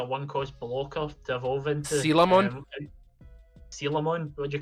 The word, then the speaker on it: Coelamon: I call him Colamon. I call him Coelamon. So there we go with 3 different pronunciations. It is Sealamon, as in coelacanth, the fish.